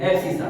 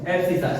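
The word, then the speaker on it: abscissa: है, इसको बोलते हैं एबसीसा। क्या बोलते हैं? ए बी एस आई सी, ए बी एबसीसा, ए बी सी I double S ए, एबसीसा।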